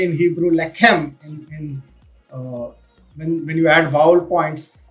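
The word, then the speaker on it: לחם: to formulate a language, so they say lechem, which means bread. Okay, but the spelling is the same. The only thing they add vowel points, dots or dashes to pronounce it as lechem, so that people identify,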